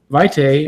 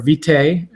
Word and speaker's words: lignum vitae: some exotics that are lignum vitae or vitae or they tie a lot of pronunciations I suppose Latin would be V tie is one of the